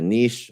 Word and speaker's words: niche: have now i have i have a niche or a niche depending on how you like to pronounce it um i've built a